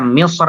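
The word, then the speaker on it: مصر: Jadi Ibnul Jazari membaca Misr itu dengan tebal karena beliau melihat kalau ra-nya itu kalau diwasolkan harokatnya fathah. Sementara qitr itu ra-nya kalau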